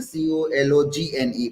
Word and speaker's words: Cologne: is silent in kog it is written c o l o g n e but g is silent in that it is cologne that's